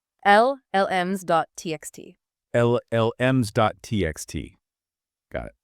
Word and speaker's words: llms.txt: It's llm.txt. So two L sounds at the start. LLM.txt. Llms.txt.